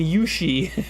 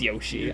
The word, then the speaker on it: Yoshi: never michael d says mario and yushi no it's yoshi i know how to pronounce yoshi um there's my phonetic